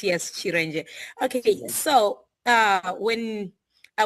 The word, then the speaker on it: Chiren: Uh my name is Chir. That's actually how I pronounce it. Yes. Chir.